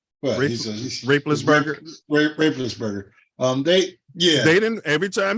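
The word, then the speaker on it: Roethlisberger: But nobody did that to Ben Raplestein. Did I say his name right? Well, Raplesberger.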